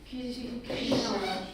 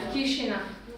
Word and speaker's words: Chisinau: Chisinau. Say that again? Chisinau.